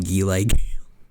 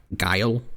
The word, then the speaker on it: Guile: Chung Lee, Gile, and I'll never stop calling him Gile. I'm pretty sure you do know the actual pronunciation now. Guile, but delay is funnier.